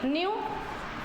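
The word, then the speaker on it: knew: second form क्या जाएगी न्यू और थर्ड फॉम हो जाएगी न्य तो क्या जाएगा हैड न्य हैट बोलते हैं कई बच्चे इसे क्नो नहीं होता के साइलेंट होता है इसमें ठीक है पीपल डिड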